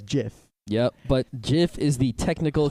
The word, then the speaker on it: gif: who called him a jiff non ironically well jiff is actually the correct pronunciation if you search for it on the